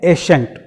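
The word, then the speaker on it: assent: दूसरा नेक्स्ट जो है वह है एशेंट। एशेंट और एसेंट, इस पर, इसके प्रोनाउंसिएशन पर आप थोड़ा सा कंसंट्रेट करेंगे माइंड को।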